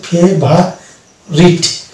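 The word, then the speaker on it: favourite: অনুরূপভাবে এটা হচ্ছে ফেভারিট, এই যে ভা হলো, এখানে ও কিন্তু সাইলেন্ট থাকলো, অর্থাৎ কান্ট্রি, ফেভারিট এই জাতীয় শব্দে আমরা ও ইউ থাকলে আমরা ওকে সাইলেন্ট পাচ্ছি।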